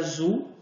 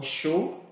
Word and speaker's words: Zhou: Então, a gente tem uma das mais antigas dinastias, talvez a primeira, a dinastia Zhou, ou Shou. A pronúncia depende muito do tipo de tradução que é utilizada.